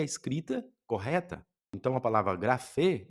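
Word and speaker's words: γραφή: Então, gra e você identificou que isso aqui não é um n, é um é um eta e tem o som de e. Então, grafê.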